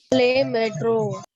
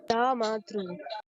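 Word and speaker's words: le métro: La matru. See, here you can see an accent and E in the right hand side. So it will be pronounced as A. So it will be le metro.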